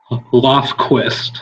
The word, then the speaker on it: Lofquist: Lofquist. Okay, that's pretty So a lot of people like to add a T in the middle. There's nothing to add.